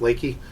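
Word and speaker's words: Leakey: It's spelled Leaky, but it's pronounced Leaky, which is about 400 miles from here, out in the hill country of Texas near Garner State Park.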